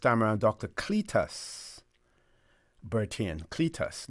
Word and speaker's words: Cletus: And I may have pronounced this incorrectly. First time around, Dr. Cletus Bertin. Cletus, not Cletus.